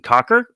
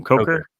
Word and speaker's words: Coker: a huge jump uh Jaylen Cocker I think is how you say his name Coker Coker damn that was close jayen Coker is a